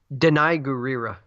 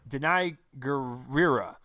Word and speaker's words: Danai Gurira: this one the general actresses name I can't pronounce Oh Danai gurira Danai gurira yes she surprised the ha at me she